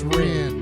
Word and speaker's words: Rean: Some people have trouble pronouncing my name. It's Ren.